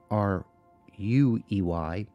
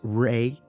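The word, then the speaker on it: Ruey: She offers two separate pronunciations for the last name. One is Ray, R-A-Y, or R-U-H, R-U-H. Do you pronounce that Rue or Ra?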